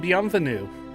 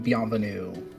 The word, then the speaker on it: bienvenue: You know you're saying it right if all you can hear is snot. Yeah. If you don't sound like Chewbacca, you're not doing French correctly.